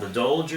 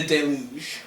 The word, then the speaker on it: Deluge: The Dolge or something like that? The Deluge. Deluge. I just pronounced it wrong because I don't have the degree you have.